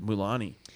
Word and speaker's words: Mulaney: I'm surprised I pronounced it right. It's a tough one. Mulani.